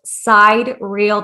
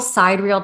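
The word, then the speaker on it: sidereal: that was until he found what is called side real time it's spelled s-i-d-e-r-e-a-l and basically side real time is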